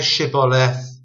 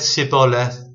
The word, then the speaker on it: Shibboleth: If he said nay, then they said unto him, Say now Shibboleth. And he said Sibboleth, for he could not frame to pronounce it right.